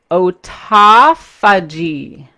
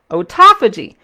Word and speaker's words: autophagy: 10 word which i hate using but it's pronounced ota fudgy autophagy and i put it up here so that